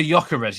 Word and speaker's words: Gyökeres: So with the Victor, pronounce his name for me. Oh, Victor Gyökeres.